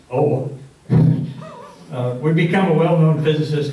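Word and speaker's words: Aage: one OA pronounced spelled a a g but pronounced old would become a well-known physicist like his father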